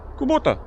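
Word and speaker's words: Kubota: -I have Kubóta or Kúbota I don't know how you say it in Ljubljana. -Kubóta.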